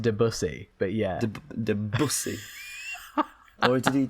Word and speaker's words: Debussy: No, I choose Debussy's Moonlight. What is it? Do you Moonlight Sonata? Is that the other one? It's pronounced Debussy, but yeah.